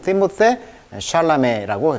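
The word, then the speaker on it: Timothée Chalamet: 그래서 이 발음을 에로 발음해라. 그래서 티모세 샬라메라고 이제 읽게 되겠죠.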